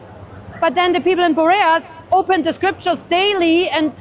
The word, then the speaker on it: Berea: Perea he the Bereans is what she's talking about here. Not Perea but Berea.